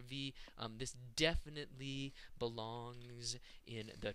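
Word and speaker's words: В: This letter, which is pronounced V as in Vera, looks just like the English letter B.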